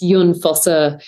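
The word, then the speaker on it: Jon Fosse: because it's I think in Norwegian that's pronounced Jun fossa uh I like him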